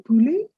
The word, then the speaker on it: poulet: Le poulet. T silent. Le poulet.